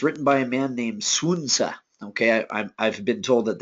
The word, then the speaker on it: Sun Tzu: Okay, but Sun Tzu is how I've been told to pronounce it.